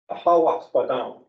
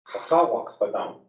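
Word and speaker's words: Haha Wakpadan: Now several Dakota speakers will teach us how to pronounce the creek's Dakota name. Ahawakpa. Ahawakpadam. Ahawakpadam. So Wakpa is river. Wakpadam would be creek. And Taha is the falls. The river of the falls.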